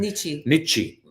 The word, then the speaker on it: Nietzsche: Nietzsche.